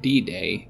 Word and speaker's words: D-Day: of world war ii d-day but it's pronounced like bidet which is again water related okay the nagas see